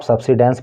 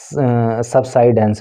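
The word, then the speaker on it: subsidence: अब देखो, इसको आप सब्सिडेंस पढ़ सकते हो या इसका प्रोनाउंसिएशन सबसाइडेंस भी होता है, जो भी आपको ठीक लगे आप उसको बोल सकते हो।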